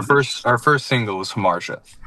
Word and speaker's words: Hamartia: And this band, your your first single, which I'm also going to have you pronounce uh Har Hamar. Thank you. So, our first our first single is Hamar.